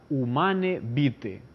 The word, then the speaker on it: Humanae Vitae: del año 1968 llamada humane vite se escribe en castellano humanae vitae pero se pronuncia human evite tuvo esa encíclica varias